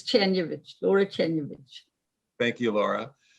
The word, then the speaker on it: Czerniewicz: It's Czerniewicz, Laura Czerniewicz.